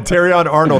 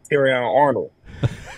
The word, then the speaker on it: Terrion Arnold: Hayes J Mill and terion Arnold are releasing a country song that is amazing no no no no no look look you said it wrong tyion Arnold Walker Hayes jaylor mural